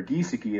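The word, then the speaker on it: Giesecke: you'll notice here that Adolf geiseki or giseki as he pronounced it when I spoke to him on the phone I had X's all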